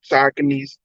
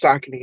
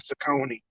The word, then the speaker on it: Saucony: Saucony's, and now we know it's pronounced Saucony. I always said Saucony, but now we know it's Saucony.